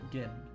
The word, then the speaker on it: Northport Gin: Northport Gin. That one's pronounced with a J.